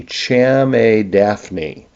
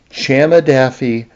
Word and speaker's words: Chamaedaphne: The the Latin name is so hard to pronounce. It is c h a m- ae d a p h ne. Cham daphne. Uh, it's really hard to say unless you really focus on it. Chamadafi.